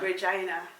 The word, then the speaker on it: Regina: So there's a city that is called Regina. Regina. And it's spelled like Regina.